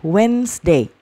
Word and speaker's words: Wednesday: nah ini wednness Day ini d-nya tidak dibaca ya Wednesday dan ingat ini bacanya